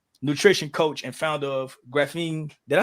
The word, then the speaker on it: Graphene: Certified nutrition coach and founder of Graphene.